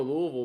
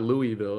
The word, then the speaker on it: Louisville: You can't It's not Louisville. It's a Louisville.